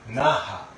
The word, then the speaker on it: Naha: This is the day of Naha because we can call Nana. We pronounce it 7 for Nana and 8 for Hachi, and then Naha.